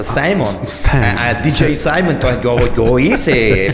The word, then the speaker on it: Simon: y yo trabajaba de animador siempre, que fui primero animador y DJ, por eso Simon, por Simeón, que en inglés Simón se pronuncia Simon, DJ Simon.